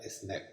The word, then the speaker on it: SNP: DE UN SOLO NUCLEOTIDO en ingles se nombra SNP y se pronuncia "snip" es una abreviatura y en este ejemplo